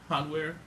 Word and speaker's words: Hanweir: Turns out that Thalu's lieutenant, followed by Hanweir Garrison. Say that one more time. Hanweir. It's like French, right?